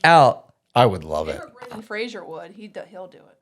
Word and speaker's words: Fraser: phrase actually it's not Frasier don't that's not how you pronounce his name it's Fraser it's literally Fraser like yeah like Razer like a laser like a frayed laser